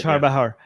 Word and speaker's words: Chabahar: Armin, am I pronouncing it right? Chabahar. Yeah. No, but so, okay.